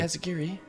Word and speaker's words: Asagiri: Asagiri. That's how you pronounce it.